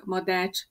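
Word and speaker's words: Madách: Madács, ch a cshang.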